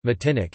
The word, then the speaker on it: Martinique: Martinique, French pronunciation, Matinic, is an insular region of France located in